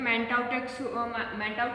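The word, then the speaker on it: Mantoux: ठीक है, इसकी स्पेलिंग रहेगी बेटा MANTAUX, लेकिन यहाँ पे जो एक्स है वो साइलेंट रहता है, ठीक है, इसको हम क्या बोलेंगे, मैंटाउ टेस्ट। ठीक है, इसमें क्या होगा, मैंटाउ टेस्ट में ट्यूबरक्यूलिन इज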